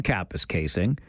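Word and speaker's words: Kapuskasing: great little story from Capus Casing saying this is how it's pronounced. People from the south never seem to get it right. Capus casing is right according to the source in Capis casing.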